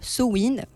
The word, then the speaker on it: Samhain: Mais là, par exemple, pour l'événement de vendredi, Samin, qui, d'ailleurs, je précise, se prononce Sowin, comme Halloween.